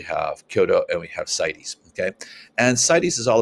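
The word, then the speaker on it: CITES: successful at protecting species and then there's cities that's how you pronounce this one cities okay i had to look it up on google because i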